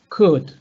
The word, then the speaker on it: could: Something similar, could. I am trying to, sorry, I'm trying to delete the pronunciation of the L.